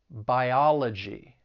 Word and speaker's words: biology: Words that end in ty, cy, phy, gy, and al, the stress is going to be on the third to last syllable. So electricity, photography, biology.